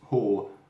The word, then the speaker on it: Hoh: to what i've understood it's pronounced whole and not or or anything like that but how i ho